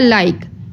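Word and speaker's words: like: यह लाजमी लिखना होगा नेक्स्ट है लाइक एल आई के ई लाइक अब लाइक जो है यह वर्ड हम लोग ई जो है वह हम लोग नहीं बोलेंगे क्योंकि ई जो है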